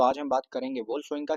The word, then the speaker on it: Wole Soyinka: आज हम बात करेंगे वल शंका की फोम इसको ओल शंका पढ़ना डब्लू साइलेंट कर देना ओल शंका की फोम